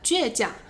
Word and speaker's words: 倔强: 书面语会这样用，他的性格很倔强，他的性格很倔强。犟就是这个音啦。